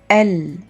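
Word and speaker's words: elles: all are feminine only subject is S at the end of the word L is silent let's repeat once again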